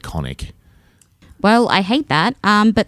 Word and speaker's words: chthonic: There's a fuzz pedal called Chthonic Fuzz, but they tell you to pronounce it hard K, no TH. Yep. I think they actually pronounce it conic.